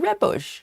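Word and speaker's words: rooibos: And I think it's just a it's taken from the sound of red bush, right?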